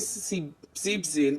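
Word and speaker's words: siebzehn: बस 17 का 7 में जब हमारा सी बन आया तो हमारा ई एन इसमें साइलेंट हो जाएगा, रिमूव कर देंगे और क्या हो जाएगा, सीप जेन पढ़ा जाएगा.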